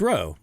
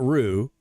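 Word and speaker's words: Roo: is it yeah it's row right it's row qu kintana R not Rue like you make a gumbo with it's kintana R right r o row that's how it would be pronounced right mess with me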